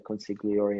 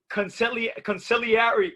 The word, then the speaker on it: consigliere: Consigliere. Consigliere. I never heard that. I never heard it like that. Consigliere. No, consigliere. That's what they say. Oh, you said it in Italian.